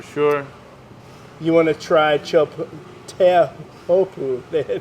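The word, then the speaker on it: Teahupo'o: that Tahiti for sure you want to try chopu they pronounce it yeah not big but not that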